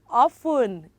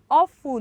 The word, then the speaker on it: often: basis and it is often it is what often are you repeating have you tested you're listening here can you hear me or beautiful it is awful not often another word apostle how